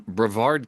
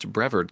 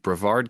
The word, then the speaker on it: Brevard: So, I don't feel bad correcting him on Breard County, not Breverard County. Brevard County manatees, but a great one.